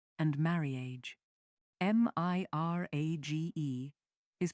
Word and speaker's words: mirage: Mirrage and marage. M I R A G E is pronounced mirage, said Valency shortly, picking up her tea and her beans.